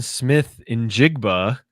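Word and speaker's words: Smith-Njigba: Another record that quietly could fall here is Jackson Smith in Jigba.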